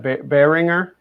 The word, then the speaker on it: Behringer: Behringer.